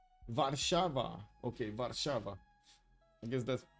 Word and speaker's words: Warszawa: Warszawa. Warszawa. Okay, Warszawa. I guess that's actually easier to pronounce.